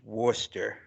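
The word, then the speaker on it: Worcester: leans over he's like I think it's pronounced Worster like just just just well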